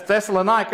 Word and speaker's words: Thessalonica: That's Thessalonica or Thessaloniki, depends on how you pronounce it.